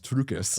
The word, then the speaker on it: Triukas: And it is Triukus.